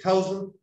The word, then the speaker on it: thousand: 1,000. Can you say 1,000? Ya, para que le suene bien, tiene que sacar la lengua al principio.